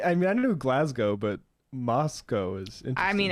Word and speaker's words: Glasgow: stop pronouncing glasgow wrong you don't pronounce the w like with snow glasgow it's pronounced glasgow same with moscow yeah